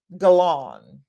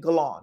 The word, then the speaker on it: Guerlain: Guerlain. I think that's how you say it. Guerlain, not Guerlain, but Guerlain. Teresa says, I love doing the same thing.